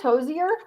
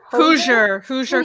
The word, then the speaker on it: Hoosier: Hosier? Hoosier carnivore.